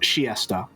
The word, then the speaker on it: Chiester: And also apparently it's pronounced Chiesta.